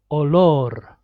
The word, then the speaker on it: olor: And the last one, olor. Again, multiple because it's the last letter of the second syllable.